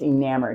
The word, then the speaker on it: enamored: Like enamored is I'm just gonna fall in love with tequila, and I'm just enamored. Enamored is just one of those words that, plus it rhymes with hammered.